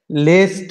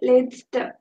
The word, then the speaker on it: Letzte: I'm pronouncing it wrong, I think. Yeah. Yes. Letzte, okay. Yeah. It is Letzte. Letzte.